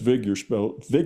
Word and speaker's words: Wigner: But all of them, wasn't just one, wasn't that Wigner, and that's Wigner spelled with a W, because in the German language, a W is pronounced as a V.